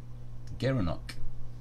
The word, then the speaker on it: gerenuk: such but never he gara gara nook gerenuk overload he pronounced as a gerenuk the gerenuk yeah you